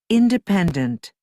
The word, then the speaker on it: independent: And the last one, obedient, responsible, independent, okay. Obedient, responsible, independent, en esta última. Independent. Porque son 4 sílabas, pero independent, right? Se estresa en la tercera, right?